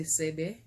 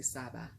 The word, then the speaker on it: Saba: And she was the queen of I sometimes say Sebe, and then sometimes I say Saba, but it's S-A-B-A, so it just depends on how you pronounce it, right?